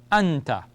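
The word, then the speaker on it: أنت: So alif fatha gives me the sound of ah. Joined to the noon gives me an. So it's like a syllable. The two of them together. We have an. And ta fatha gives me ta.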